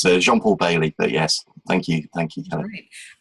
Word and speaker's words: Jean-Paul Bayley: Yeah, so it's Jean-Paul Bayley, but yes, thank you, Kelly.